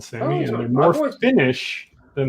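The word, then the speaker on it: Sámi: like ethnicity is called sammy and they're more finnish than they are swedish i've always wanted to pronounce that asami but there you go i learned something it just depends on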